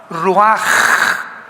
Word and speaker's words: ruach: que significa espíritu y se pronuncia la ch en el hebreo como j. Ruaj, roaj.